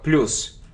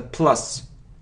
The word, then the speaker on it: plus: Почему-то очень многие произносят слово как плюс. Но это не плюс, это plus.